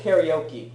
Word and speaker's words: カラオケ: We say karaoke, but why do they pronounce it as karaoke? Because that's the Japanese word. And it's also phonetically spelled that Yeah, way. that's how it's spelled.